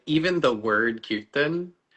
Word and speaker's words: kirtan: often pronounce it kon. M. So it's like you're it's it's the I often becomes a little bit longer than it's supposed to be.